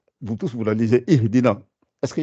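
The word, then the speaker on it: اهدنا: Donc là, la Hamzatul Wasl, vous êtes obligé de la prononcer puisque vous commencez par cette lettre-là. Donc c'est pour ça que vous dites Ihdina siratal I.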